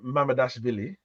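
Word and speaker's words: Mamardashvili: actually as well um but you you signed madash vly that's how you say his name um for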